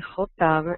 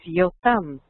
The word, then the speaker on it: Yotam: es la forma y el nombre hebreo de jotam es yotam se escribe con eh yod Y creo que como